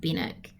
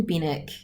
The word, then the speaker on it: Benwick: And we were talking about the pronunciation of Benwick. There's a W in there, but it's not pronounced, which is, I'm guessing, an English thing.